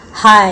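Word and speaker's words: high: हाई, इसमें भी जी silent है।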